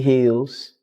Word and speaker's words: Heals: But today we have Miss Beverly Hills. Beverly Terrella. H E A. Did I pronounce that right?